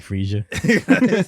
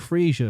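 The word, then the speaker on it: Fraser: who is loki australian so it's greek freesia is it greek is it is this is how you say it it's greg frisia if you ever have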